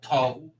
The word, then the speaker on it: Tao: If I remember correctly, cuts in Japanese from Chinese and this comes from Tao in Chinese which they call toe and came came to in Japanese.